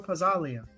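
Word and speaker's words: Pazzaglia: Oh, Lorenzo Pazzalia.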